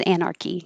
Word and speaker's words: anarchy: esquire esquire anarchy anarchy chaos it's a good example of a ch so is anarchy the ch sounding like a k chaos chaotic chaotic and